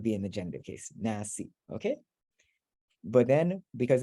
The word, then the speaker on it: nas: Yeah, in there nas. is an E there, yeah. When you So- pronounce it, you just stopped at the S, I think.